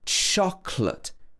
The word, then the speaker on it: chocolate: It should be chocolate. Chocolate. Chocolate. Would you like some chocolate? Okay, so don't get caught out with words like this. It's not said in the same way that it's spelt.